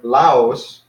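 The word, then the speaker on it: λαός: then here's another word Laos so we got lambda alpha that's the first syllable and the second syllable the last civil is where the accent is Omicron Sigma and of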